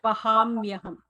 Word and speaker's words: वहाम्यहम्: Vahamyaham.